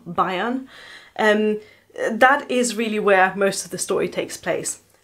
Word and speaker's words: Bayern: I'm not sure if it's supposed to be pronounced Bayern, but I am German and I'm going to pronounce it like the German state of Bayern.